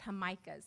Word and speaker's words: Jamaicas: In our culture, the Latino culture, we call it Jamaicas. It's spelled Jamaica, but they're basically church festivals, music and food, and everybody comes together for a good cause.